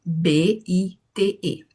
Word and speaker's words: bite: Por exemplo, se você vem uma palavra que se escreve B i T E, a gente fala bite, porque a gente tem uma vogal longa que a que precede o silent i.